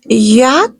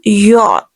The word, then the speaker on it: yacht: Okay, the next word is yak. No, yak is no word. The word is yacht.